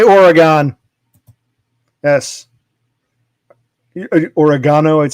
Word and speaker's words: Oregon: We say Oregon because G-O-N, like pentagon, octagon, hexagon. G-O-N is usually pronounced gon. So we say Oregon. You people keep insisting it's Oregon.